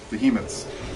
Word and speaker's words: Behemoth: double Kaiser behot though behemoths I have always said be up and that's completely the wrong pronunciation Behemoth is the right one right um Cho says